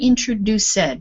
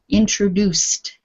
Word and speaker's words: introduced: have the time um this word here introduced not introduced we don't pronounce all of the letters in english this ending because the c is it's up in your mouth not voiced the ed becomes t introduced okay introduced good exactly